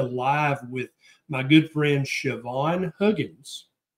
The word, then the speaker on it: Siobhan: I just did a live with my good friend Siobhan Huggins. And Siobhan is not spelled like it sounds. If you're not Scottish or Irish, you wouldn't know that.